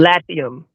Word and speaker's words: Latium: Latium.